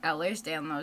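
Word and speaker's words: Ehlers-Danlos: Okay, so they didn't say the name correctly. It's Eller's Danlo syndrome, but the hyper mobile joints and the weak cartilage.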